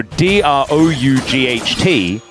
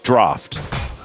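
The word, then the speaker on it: draught: So, d r o u g ht is draft, but people think it's pronounced drought, and it's just not.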